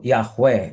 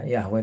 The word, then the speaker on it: Yahweh: Maka dalam bahasa Ibrani YHWH itu, ya bahkan sebenarnya kita tidak punya cara baca yang paling tepat untuk itu, ya. Walaupun akhirnya dipersepsi para pembelajar, para sarjana Kristen menyepakati ya penyebutannya disebut Yahweh gitu, ya, Yahweh.